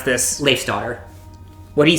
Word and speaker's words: Leifsdottir: This group consists of the quiet, reserved Kincaid, the excitable adrenaline junkie Rizavi, the intelligent and socially awkward, how do you pronounce this? Leif's daughter.